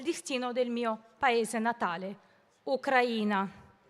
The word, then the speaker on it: Ucraina: del mio paese natale, Ucraina. L'accento giusto sulla I.